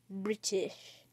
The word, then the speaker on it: British: Pronounce it like this. British. You forget the T. T's aren't always silent.